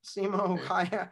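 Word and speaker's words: Simo Häyhä: Was it Samuel Haya? Is that how you say his name? Yep. Samuel Haya.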